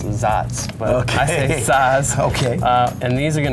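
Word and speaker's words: Saaz: then you've got um size hops or i've heard someone's corrected me and they're pronounced zots okay and these are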